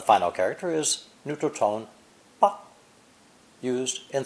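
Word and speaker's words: 吧: The character for dad or papa is simply fu with the ba phonetic underneath, together pronounced ba. 10. The final character is neutral tone ba, used in 3 ways: to give an order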